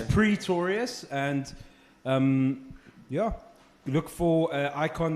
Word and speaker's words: Pretorius: no second oh and it's sometimes mispronounced as Pistorius which we because that guy was Valentine's Days are amazing for me but it's Pretorius and yeah look for